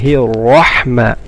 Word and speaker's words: الرحمن: The ra in Rahman is full mouth. بسم الله الرحمن. رحمة. And the ha is sharp. رحمة. And the ra should be full mouth.